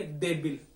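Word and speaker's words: débil: जैसे देखिए देबिल, देबिल, तो दे ए के ऊपर ज्यादा लग रहा है, ठीक है, देबिल, देबिल, तो ए के ऊपर लग जाएगा, ए के ऊपर, ठीक है।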